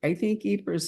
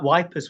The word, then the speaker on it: Ypres: I think Ypres in Belgium, isn't it? It is. And Wipers was the joke. That was the soldiers' pronunciation.